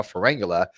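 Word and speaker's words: Pharyngula: By the way, I can pronounce it correctly now, Ferengula, a little blurb about G-Man, and then he's just going to leave it alone after that.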